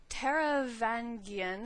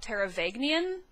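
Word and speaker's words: Taravangian: trouble with his name I always want to switch the n and the g that are right next to each other so it comes out teravagnian but that is clearly not how it spelled um so I guess Tara vangian would be the closest thing I can think of um to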